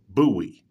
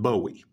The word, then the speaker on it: Bowie: buoy and yes that is the proper way to pronounce the man's name buoy not Bowie although considering the fact